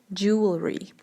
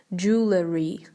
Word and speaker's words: jewelry: Jewelry. Знаете, как неправильно произносит это слово? Его неправильно произносит так. Jewelry. It's not jewelry, it's jewelry.